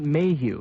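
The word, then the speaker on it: Maheu: Days later, during the week of September 25th, Robert Mayhew, that's spelled M-A-H-E-U, that's a name that crops up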